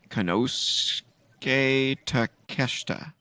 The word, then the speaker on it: Konosuke Takeshita: Will Ospreay defends against Ricochet, and the name I can never pronounce correctly. I'm going to try it one more time. Konosuke Takeshita.